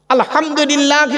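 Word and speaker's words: الحمد لله: বলেন না কথা বলুন আলহামদুলিল্লাহি রাব্বিল আলামিন ভালো করে শুনে নিন আলহামদু গলার তর থেকে উচ্চারণ করবেন আলহামদুলিল্লাহ এর মানে কি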